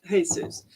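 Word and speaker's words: Jesús: was that Hispanics named their kids Jesus pronounced Jesus there are lots of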